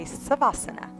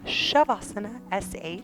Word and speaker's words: savasana: here for you so shavasana Sanskrit for final resting pose is actually spelled SAV so a lot of humans read it and they say savasana so just so you know it is pronounced shavasana Sh just a little